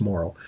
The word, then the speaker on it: Morrill: case, I wasn't sure whether it was Morrill or it's more of a French-Canadian pronunciation, Morrill. Okay. And he tells me it's Morrill. So I'm just going to make sure that is it Gulyas?